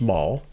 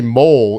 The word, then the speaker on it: Mall: And they get to the introductory press conference, and we know your last name is pronounced Mall. Let's just say they're all saying Corey Mole is here.